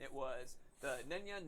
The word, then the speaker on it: Nenya: It was the Nenya, Narya, and Vidya.